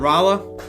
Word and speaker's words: Rolla: Just the way those crazy Missourians pronounce it. It's okay. I live in Oklahoma. I can't pronounce half the cities in my own state. Whoa, that's awesome, Ginger. That's super cool. It's because it was originally going to be named Raleigh, but they changed the spelling for simplicity.